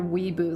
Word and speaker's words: weeaboo: They're Weeboos, like wee-wee.